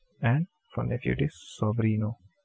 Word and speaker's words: sobrino: sorry so Rena and from there it is sobrino s o V R I n sobrino so